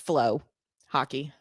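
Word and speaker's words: FloHockey: So, Milwaukee Admirals, tonight, Flow Hockey, FLW, or FLO, pronounced Flow Hockey.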